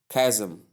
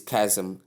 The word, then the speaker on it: chasm: Most people do pronounce this word as chasm, but the right pronunciation is kasm sound not to sound.